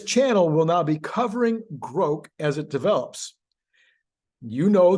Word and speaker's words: Grok: groke yes that's how you pronounce it Gro not grock not Gro not gr anyway it's Gro according